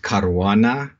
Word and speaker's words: Caruana: how is that pronounced it's a Maltese last name and in Malta it would be pronounced caruana but uh I've heard